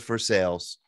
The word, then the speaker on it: Versailles: names beyond any recognition we actually have a town here and it's a pretty big town called north versailles that's right and that's how they say it of course we call it north for sales uh we have dubois